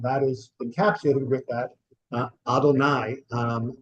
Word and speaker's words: Adonai: we are saying here is that y we pronounce as Adonai that is our God not an Egyptian God